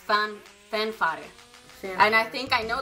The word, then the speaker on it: Fanfare: I think it's pronounced Fanfare.